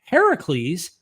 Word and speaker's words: Heracles: critical Scholars think that Heracles Heracles which is the Greek pronunciation which means the older version of Hercules um influenced the biblical